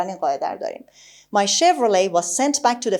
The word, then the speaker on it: Chevrolet: همونی که ما بهش میگیم شورلت یا هرچی، این تی آخر تلفظ نمیشه در انگلیسی. My Chevrolet. و دقت کنید که CH رو داریم ش میخونیم.